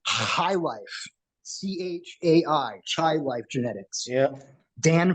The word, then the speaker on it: Chai: now James Bean you have shy life or pronounced High Life c-h-a-i chai life genetics yeah Dan from Child Life